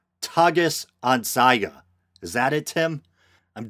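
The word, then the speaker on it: Tages-Anzeiger: language and he says the name of this Swiss newspaper is pronounced Targus on Saiga togas on Saiga is that it Tim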